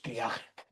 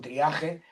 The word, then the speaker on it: triaje: Todos los galicismos que se han incorporado a nuestra lengua han terminado adaptando su grafía y la pronunciación del sufijo francés a la de español.